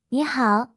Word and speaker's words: 你好: 第一句，你好，Hello，发音要点，你呢